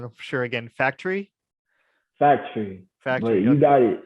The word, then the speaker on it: Faktury: so common uh but it's like fact and then re right factory absolutely right how much is this the u is is silent gotcha cool um and